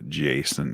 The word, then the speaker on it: Jason: It's pronounced Jason, in case you were wondering.